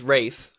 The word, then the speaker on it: Ralph: but also because Ralph I don't know how to say his last name terrifies me because of the menu like he's in my nightmares it's it's Rafe fines Ray fiends and apologies